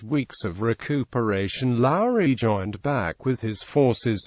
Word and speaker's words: Lowrey: Low's divisional Commander during the Franklin National campaign pronounced Lowry the bravest man in the Confederate Army Post